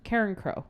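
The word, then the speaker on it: Carencro: How do you pronounce the album name? Karen Crow.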